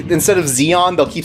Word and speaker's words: Zeon: in the West a lot of the like pronunciations and stuff are off like instead of Zeon they'll keep saying Sean because of like bad romanization they say zach